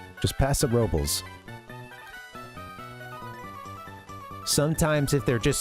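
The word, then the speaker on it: Paso Robles: And uh there's a place called and people pronounce it uh a lot of the folks that live there pronounce it and have for a long time. Passa Robels. Just Pasa Robels.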